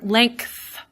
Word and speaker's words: length: You can also hear some insertion in the word length. Even when you hear that, you can probably hear me have something, say a K in there, length, which is again me moving from a voice sound to a voiceless sound, and I get the K in that case in between.